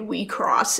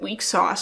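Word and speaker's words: WIXOSS: one room selector infected we cross is actually how it's pronounced so though we sauce everybody sort of set weak sauce for ages until it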